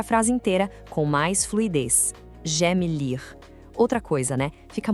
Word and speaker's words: j'aime: Atenção total aqui na pronúncia de j'aime. Muita gente tende a falar j'aime, separado, mas o som é mais fechado e rápido, quase uma sílaba só. Pense em j'aime.